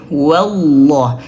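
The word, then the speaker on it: والله: Wallah tebalkan wallah jangan tipis.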